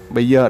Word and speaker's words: Bayer: Bayer có nhiều đọc, nhiều bạn đọc là Bayer hoặc là Bayer. Bayer đọc từ tiếng Anh á. Còn nếu bạn đọc Bayer thì đọc từ tiếng Pháp nha các bạn.